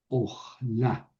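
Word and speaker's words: לאכלה: Getayu, le, ojla, le, ojla, porque esto es una sílaba cerrada, no acentuada, entonces eso es en realidad un kametz hatuf, suena o, le, ojla, y al final sof pashuk.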